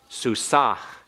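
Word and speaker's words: סוּסָהּ: masculine singular and ah you have to pronounce the ma Peak by by putting some breath in that last hay so it's susaj not as heavy as if it were a uh it's not like a Haith it's not susak but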